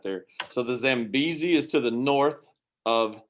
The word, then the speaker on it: Zambezi: The one above it, it's actually an E. So it's Zambezi River. Okay. It's hard to see on that spelling whenever you zoom it in right there. So the Zambezi is to the north of Zimbabwe.